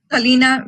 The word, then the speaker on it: Stelina: And then before I move on, I would just want to double check on pronunciation. Is it Stelina Villarreal? Stelina Villarreal.